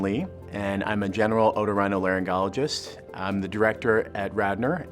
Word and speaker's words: otorhinolaryngology: patients with those problems otorhinolaryngology that's how it's pronounced it's a it's nine syllables it's a tough one it's just Latin for ear nose throat and so we deal